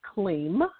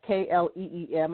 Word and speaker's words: Kleem: One good mantra to use is Kleem, and that's K-L-E-E-M.